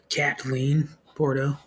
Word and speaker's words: Kathleen Porto: Kathleen Porto. Got to say it right. There's no H in there in the middle.